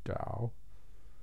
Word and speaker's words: Tao: about ta oh but pronounced with kind of a d sound tao dau dau taking a ta o